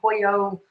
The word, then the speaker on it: pollo: Manna Delight Says to tell you that your Rose Come Pollo video. Yeah, I'm sounds sorry. Wonderful. We said it wrong. We said it's pollo, and I said polo because it's spelled P-O-L-L-A.